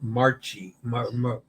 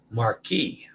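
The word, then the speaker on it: Marchi: oh Mark oh Marquis the chi has the k sound Marquee okay yeah okay now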